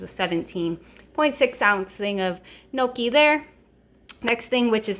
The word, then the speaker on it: gnocchi: do you pronounce it i've heard people even say miyoki like with the letter m i'm pretty sure it's gnocchi i'm might be wrong but i really love